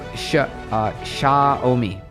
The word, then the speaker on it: Xiaomi: Xiaomi is how you say it.